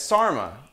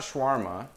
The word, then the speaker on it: sarma: Yeah, it's sarma. It's not shawarma. She said sarma. She's like, it's sarma, not shawarma.